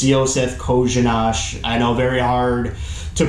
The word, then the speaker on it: Josef Kořenář: It's Josef Kořenář. I know, very hard to pronounce after you see the name, but that's how it's supposedly pronounced.